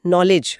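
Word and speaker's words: knowledge: आप अंग्रेजी का शब्द सोचिए नॉलेज। हां, उसमें के साइलेंट है।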